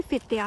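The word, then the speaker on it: Fittja: Spelling से तो आपको लग रहा होगा कि फिच्चा है, फिच्चा नहीं है। ये इनका जो जे है वो वाई है स्वीडिश लैंग्वेज में, तो ये फित्तिया है।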